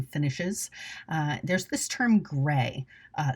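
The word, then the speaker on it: greige: We've had that word in textiles for a long time and it is pronounced gray.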